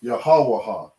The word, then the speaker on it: Yahawah: you don't understand hebrew this is the correct way to pronounce the name of the most high the name is yahawa okay you can read